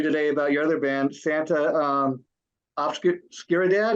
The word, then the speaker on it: Santa Oscuridad: about your other band, Santa Obscuridad. Is that how you pronounce it? Santa Oscuridad, yeah.